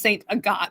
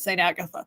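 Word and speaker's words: Sainte-Agathe: But they pronounce it in French, so it's Saint Agathe. And all of their street signs are bilingual. So it's Saint Agathe. Don't call it Saint Agatha.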